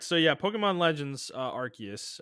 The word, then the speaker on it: Arceus: So yeah, Pokemon Legends Arceus. I learned that this week that the pronunciation is Arceus, not Arceus. Okay.